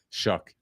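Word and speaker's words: Shough: Go rolling out there with Tyler Shuck or Tyler Show, however you say his name. Shuck.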